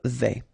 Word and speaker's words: vais: Je vais, final S not pronounced here, and remember when you combine this A and E together, you get the sound E, so really open. Je vais.